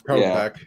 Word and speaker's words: Kopech: Is that how you say his name? I think you're saying it right. Kopech, right? It's Kopech. Kopech.